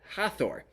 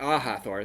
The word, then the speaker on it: Hathor: the egyptian goddess ah hathor not aha thor that was me being